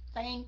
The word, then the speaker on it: thank: No, thank you. Thank. Chứ th mình la lưỡi ra, mình không có đọc là thank you.